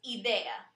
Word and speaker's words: idea: A of idea but in Spanish we stress the letter I so it becomes idea we also have the